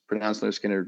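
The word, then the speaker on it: Lynyrd Skynyrd: First album coming out, pronounced Leonard Skinner was 1973.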